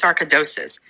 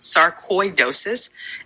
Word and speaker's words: sarcoidosis: listening who don't know Tisha had what's called sarad dois and actually I looked this up and it's actually pronounced sarcoidosis and she actually pronounced